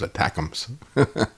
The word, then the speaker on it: ATACMS: I guess ATACMS I guess I would pronounce that as attackums um inside the